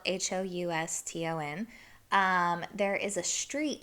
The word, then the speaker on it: Houston Street: you know it's spelled h-o-u-s-t-o-n um there is a street in new york that's spelled the same exact way but we call it houston street i don't know why